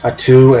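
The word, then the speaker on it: Attu: um alaskan islands of uh i have the pronunciation right here uh atu and kiska those are the two alaskan islands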